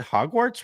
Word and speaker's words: Hogwarts: like a British accent hogart I thought it was pronounced like warts like like the like wart on your skin yeah huh Hogwarts Hogwarts